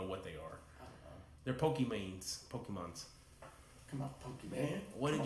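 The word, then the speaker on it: Pokémon: oh are they butchered they said pokemans it's Pokemon Pokemon is like don't do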